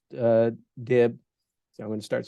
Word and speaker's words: DIB: So that's a hugely important part of what the DIB or the DIBs. I guess he's pronounced it DIB is the correct That's pronunciation.